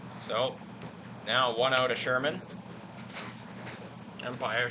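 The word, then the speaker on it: Schurmyn: very interesting thing because his last name is spelled all weird like some people's first names you guys know about Ashley he's with the gh's and whatnot it's s-c-h-u-r-m-y-n for Sherman that'll be a walk four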